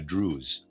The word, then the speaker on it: druse: it in various forms, like crystals in a druse, and how, because they are in their druse, their surfaces are truncated, Reader's aside, Druse is spelled D-R-U-S-E.